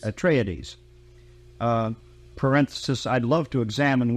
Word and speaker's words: Atreides: You have the forces of the House of Atreides, do you pronounce it? Atreides. Atreides.